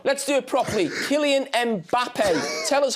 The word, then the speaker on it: Mbappé: Are you Are you doing precisely how it's supposed supposed to be pronounced? Yeah, come on. Let's do it properly. Kylian Mbappé.